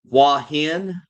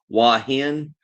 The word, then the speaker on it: Hua Hin: I am leaving tomorrow and I'm heading to oh my gosh, Hua Hin. That's how they pronounce it. Hua Hin. Uh you guys may know it by the spelling HUA then HIN.